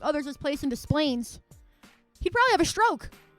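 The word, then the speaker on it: Des Plaines: And see sometimes it's hard because I'm from the Midwest so you have to mispronounce the name to say it right.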